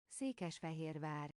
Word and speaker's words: Székesfehérvár: Okay, here's the pronunciation according to Google Translate. Székesfehérvár.